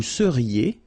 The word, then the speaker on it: seriez: Vous seriez. So here when you've got this EZ at the end, then you get the sound E, seriez. So vous seriez, okay?